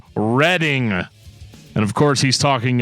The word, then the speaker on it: Reading: I'm allergic to comment I'm kidding I love reading comments uh we got a we got a